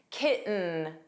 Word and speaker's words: kitten: The T in kitten was not pronounced. It sounded like kitten, kitten.